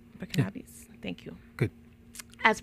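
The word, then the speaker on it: Burkinabès: Burkinabes.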